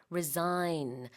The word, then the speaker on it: resign: 사직하다, 물러나다라는 뜻인데 resign, R-E-S-I-G-N, sign 아니고요. resign 이렇게 발음합니다. 자, 그 다음에 grow more prominent.